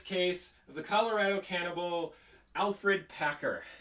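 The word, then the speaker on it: Alferd: have the curious case of the colorado cannibal alfred packer spelled alford but pronounced alfred um as and so this was a virtual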